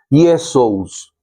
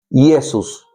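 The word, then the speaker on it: Iesus: Así que es que Jesús está escrito en griego, se llama o se dice o se pronuncia Yesus. Yesesus. En latín se le dice Yesus.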